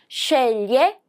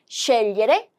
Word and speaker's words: scegliere: 여기도 마찬가지로 sce, 얘는 리에죠. 그래서 리에인데 우리 어떻게 읽기로 했죠? 좀 더 빠르게 리에를 리에 이렇게 scegliere, scegliere, 선택하다, tre gusti, 3가지의 맛을 선택할 수 있습니다.